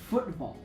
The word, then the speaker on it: football: Now a glottalization is what happens in words such as football where this T gets turned into a glottle stop which is represented sort of like a question mark with with no dot football.